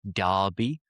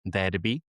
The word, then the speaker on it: derby: Notice the pronunciation, derby and not derby.